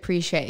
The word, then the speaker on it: Pritchétt: but that's okay but it's kind of like Target RJ Pritchett preesh a so that's just for